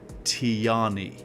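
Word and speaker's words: Tijjani: So, it is Oh, it's Tani, guys. There we go. Breaking news. Breaking news from AlPLHQ. Ladies and gentlemen, breaking news. You pronounce his first name Tani.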